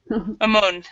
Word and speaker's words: mammone: it do you think that's probably how to pronounce it or do you know yes amone okay all right um so we're going to